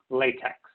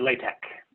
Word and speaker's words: LaTeX: of your math using latex or latex or lot X depending on how you pronounce it and there we